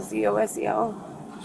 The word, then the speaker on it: Zosel: Last name is Zosel. Zosel. Sorry, spell it again.